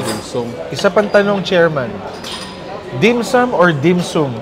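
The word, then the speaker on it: dim sum: Nasa nasa translate na usually ah parang ang dimsam mas tama pero dito dimsom ang basa. Oo pareho lang naman eh kasi kumbaga kung nasa Pilipinas ka parang yun ang ang pronounce niya dapat talaga dimsam.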